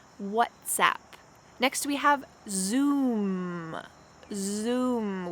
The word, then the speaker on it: WhatsApp: a tweet whatsapp whatsapp this is kind of a play on words because sometimes when we greet someone we say what's up what's up but here they've kind of changed this to be clever to say what zap because it's an application on your phone so that's where the uh expression originated from whatsapp next we have zoom